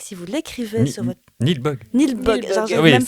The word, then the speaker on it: Nilbog: Donc c'est la famille Waits qui part en vacances dans le village de Niblog. Alors Niblog, si vous l'écrivez sur votre... Nilbog.